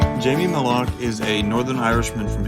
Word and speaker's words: Malaugh: or five most common most common would be Mala it's like people start the second C and then just give up they're afraid they're